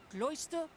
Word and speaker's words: Closter: to let you know that Closter rhymes with moisture why ah I skipped